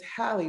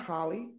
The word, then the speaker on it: Halle: Why do you say Holly Berry when it's Halle Berry? Halle? Yeah. It's Halle? It's Halle, not Holly.